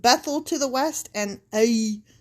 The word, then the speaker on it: Ai: to the west and ae to the east okay i want to say it just like that it's spelled a i i.e there he